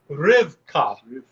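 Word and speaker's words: רבקה: So it reads Rivka, but it actually is pronounced Rivka.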